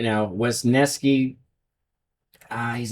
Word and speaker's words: Wesneski: Yeah, Wesneski.